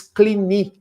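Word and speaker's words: Cluny: fundam a abadia de, em português se escreve cluni, mas em francês clini, porque é uma palavra francesa.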